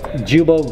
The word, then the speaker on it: guibo: Yeah, so it's pronounced jubo, guibo, flex disc, whatever you want to call it, guys.